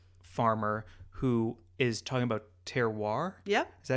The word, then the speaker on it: terroir: And he's on a farm and he's with this wheat farmer who is talking about terroir.